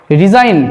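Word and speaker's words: resign: জি উচ্চারিত হচ্ছে না সাইন ডিজাইন ডিজাইন ডিজাইন রিজাইন অর্থাৎ দেখো জি যদি আমি বাদ দিয়েও বলি রিজাইন তাহলে SIN রিজাইন জি উচ্চারিত হচ্ছে না।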